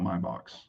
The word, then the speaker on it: Maybach: And when they left in a Maybach, if you know anything about Maybachs or Maybach, some people pronounce it that way, but pretty crazy.